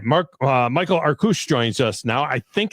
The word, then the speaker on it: Arkush: I said Arkush. When I look at it, I want to say Arkush. Is that right? Arkush is even better. Okay, Arkush.